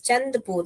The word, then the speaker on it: चंदपुर: okay चंदपुर thank you thank you फॉर the correction yes चंदपुर नॉट चंदापुर thank you thank you